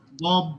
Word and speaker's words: bomb: बॉम्ब, बस बी नहीं आएगा आखिर में।